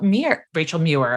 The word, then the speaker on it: Muir: one of my favorite consultants, friends, colleagues, Rachel Muir. And I knew that I was going to mispronounce it. You got it. Rachel Muir, live from Austin, Texas.